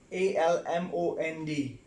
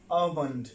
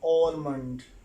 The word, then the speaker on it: almond: It's not pronoun, it's pronunciation. Well, number 5, and it's a dry fruit type, I shape. It's called almond, almond, not almond. That is the word almond, right?